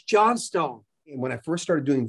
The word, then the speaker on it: Johnstone: last name again and i said johnston he said no it's not it's john stone when i first started